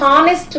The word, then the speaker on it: honest: An honest man. Actually, H is silent here.